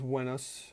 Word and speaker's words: Venus: Venus and Aphrodite so actually pronounce wenus in proper Latin but uh in in English we pronounce it Venus today because the planet